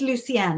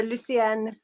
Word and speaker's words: Lucienne: It is Lucienne. I'm saying it correct, right? Lucienne. It's French, so Lucienne.